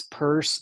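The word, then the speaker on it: Peirce: with the pragmatist philosopher CS purse spelled like Pierce yeah yeah Sanders purse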